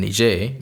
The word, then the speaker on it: Niger: to get in from Nigeria and then nijay because it was colonized by the French that's why they pronounce it not Niger so you can see